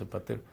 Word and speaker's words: épater: Es de origen francés, épater, en francés. Se escribe épater, se pronuncia más o menos épater.